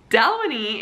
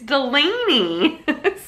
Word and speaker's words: Delaney: a pretty name and I was like Donnie its Delaney so we pronounced the name differently and so immediately it